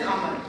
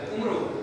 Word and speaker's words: Amar: Because apparently you're supposed to read it as Amar. Even though it's written I always use for that because that was a pet peeve of mine. Everybody started pronouncing it as Umru.